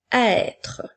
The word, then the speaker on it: être: Le mot être, dans ce mot, nous entendons le son est qui s'écrit avec la lettre E, accent circonflexe, le son T qui s'écrit avec la lettre T et le son R qui s'écrit avec les lettres R-E.